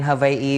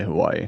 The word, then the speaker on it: Hawaii: By the way, I think that is like the right way to say Hawaii.